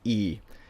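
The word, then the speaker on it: いい: So you have e and then e again. So when you put these next to each other, it just makes the pronunciation longer, so it becomes e, and that means good.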